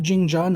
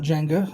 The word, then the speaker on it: Jingjia: keep an eye on Django pronounced Jean John not Jenga as we move on